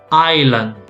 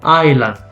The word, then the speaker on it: island: word here we say island so if you notice i do not pronounce the s the s is silent okay island this one is io